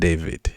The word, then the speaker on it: d4vd: Now, if you don't know, this guy is a musician called David. D 4 V D. That's how it's spelled.